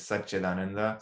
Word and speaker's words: Satchidananda: So the word again is Satchidananda. Sat is truth. So this is the Sanskrit called Sandhi, where when you join words, the pronunciation changes. So Sat and Chit becomes Satchit.